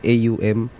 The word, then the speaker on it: Aum: Ang Om po kasi sa original po talaga niyan is AUM. Oo nga, Which is AUM. yung Actually, ang bigkas dyan na Aum.